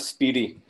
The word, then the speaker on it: SPDY: फैसल, इसकी जो प्रोनाउंसिएशन है, और this is called स्पीडी। Like हम कहते हैं ना कि इट्स फास्ट, फास्ट से जो स्पीड होता है, तो स्पीड से इसको जो प्रोनाउंस सर किया जाता है, इट्स स्पीडी। स्पीडी बिल्कुल ठीक है सर, ठीक हो गया।